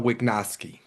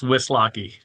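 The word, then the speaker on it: Wislocki: have with us Wignowski. Am I pronouncing your last name correctly? I think I'm not. It's Whis Locki.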